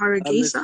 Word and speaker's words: Hargeisa: How do I pronounce it? It's Hargeisa?